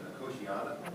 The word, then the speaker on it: Nicotiana: Officially pronounced Nicotiana, but if you want to say Nicotiniana, Nicotiana, Yania?